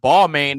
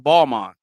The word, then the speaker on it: Balmain: Just like we all know what Balmain is, but it's actually pronounced Balmain.